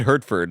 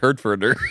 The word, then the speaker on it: Hertford: Why did I add an extra syllable to the end of it? It's just Whit Hertford. I said Hertforder.